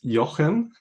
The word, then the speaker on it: Jochen: Yeah, it's the actual pronunciation is Jochen. Jochen, okay. Might be pretty hard for a non-German speaker, so yeah.